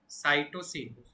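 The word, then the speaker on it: cytosine: लो question adenine वनिन ठीक है thymine and साइटोसिन pronunciation थोड़ा एक्चुअली कुछ ऐसा है साइटोसिन। ठीक है? एक बार साइटोसिन का स्पेलिंग देख लो तो एस आई एन है।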